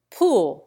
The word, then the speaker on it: Powell: John, Poole for Powell, Weems for Wemyss, Cadogan for Cadogan,